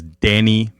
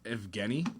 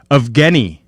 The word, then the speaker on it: Evgeny: And for the life of me, I thought his name was Danny Malkin. Danny? Isn't it pronounced Evgeny? Yeah, probably. Evgeny. It looks like it.